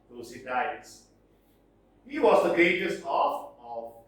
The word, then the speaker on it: Thucydides: Next, Thucydides, some pronounce Thucydides.